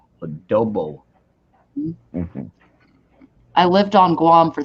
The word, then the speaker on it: adobo: you for coming up here angel song love adabu chicken adobo chicken adobo adobo oh you know that said it wrong adobo I lived on Guam for three and a